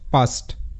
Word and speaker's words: paste: তো যখন দেখবে পাস্ট এই শব্দটির শেষে ই যুক্ত হয়ে যাচ্ছে, তো এরূপ ক্ষেত্রে কিন্তু এটা পাস্ট হবে না, এটার সাউন্ড হবে পেস্ট, পেস্ট।